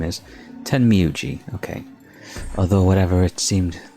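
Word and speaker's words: Tenmyouji: Timmy timmyug I keep like forgetting how the pronunciation of his work his name is ten miuji okay although whatever it seemed although whatever it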